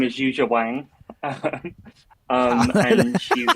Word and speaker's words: Yuja Wang: Phonetically, kind of announce Yuja Wang, not use my Wang, which is what it kind of sounds like.